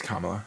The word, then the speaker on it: Kamala: like you know followers or something you think tamala would yeah thank you it's kamala yeah well you know what what i have